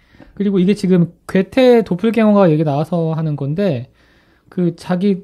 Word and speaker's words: Doppelgänger: 자, 이게 도플갱어가 그 말은 도펠갱거예요.